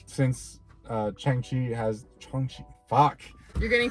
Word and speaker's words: Shang-Chi: So you gotta say Sean and then say Shang-Chi. Sean. Shang-Chi.